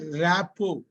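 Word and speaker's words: rapport: இந்த இதுக்கு பேரு வந்து ராப்போ இந்த டி வந்து இந்த இருக்கு இல்லையா ராப்போ இந்த ஆரும் டியும் சைலெண்ட் ரெண்டுமே சைலெண்ட் என்ன சார் இப்ப ராப்போனா நல்ல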